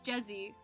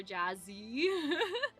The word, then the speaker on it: Jezzy: Whenever I spell my name to someone and they don't know how to pronounce it, they call it Jazz or Jazzy. No, it's Jezzy. It's like Jessie, but Jez.